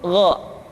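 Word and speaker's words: غ: Yang selanjutnya adalah huruf Gha. Diucapkan seperti kita mengucapkan huruf Kha, yaitu diucapkan dari pangkal tenggorokan kita. Yang membedakannya adalah Kha mengalir nafas dan Gha tidak mengalir nafas.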